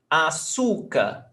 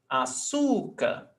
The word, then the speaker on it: açúcar: Açúcar. We've got 3 syllables, but the stressed syllable is not the last one, it's the before last. Açúcar.